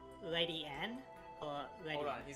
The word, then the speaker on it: Ledian: And so- Shiny Gamer says there is actually an episode with Ledian in it, and he says that they pronounce it Lady Ann, which is...